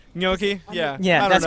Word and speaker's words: gnocchi: good stuff okay so that's how I said yoky yeah yeah that's correct you're right I don't know you're right yoky gnocchi dude I've literally never known the proper way to pronounce instead all right I do my best